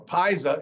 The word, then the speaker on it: pizza: When it's two Z's, in this case, pizza, it's not pizza or pizza, it's pizza. So it has a tss sound right here.